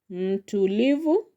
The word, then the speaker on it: mtulivu: Mtulivu. So the second syllable from the end is lee so that is where you are going to put more power. Mtulivu mtulivu. Mtulivu which means a come person.